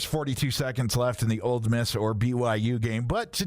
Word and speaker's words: Ole Miss: Also, I love the fact that you pronounced the non-existent D in Ole Miss.